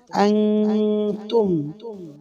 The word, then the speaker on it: أنتم: ওয়ালা আনতুম হামজা নুন জবর আন, নুন সাকিনে বামে তা, ইকফায়ে হাকিকির হরফ। নুন সাকিনকে নাকের ভিতরে লুকাইয়া গুন্না করিয়া পড়তে হবে। আনতুম ওয়ালা আনতুম আবিদুনা আ